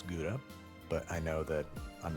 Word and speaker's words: gouda: I have here some kha, which is how you're actually supposed to pronounce gouda, but I know that